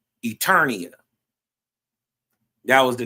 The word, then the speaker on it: Eternia: Earlier when we was building, it was called no, I said it wrong. It's Eternia.